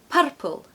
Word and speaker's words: purple: A tapped R is actually quite a strong R, almost a rolled R. For example, the colour purple, which is the lovely colour of the heather that grows on the mountains, is pronounced purple, purple.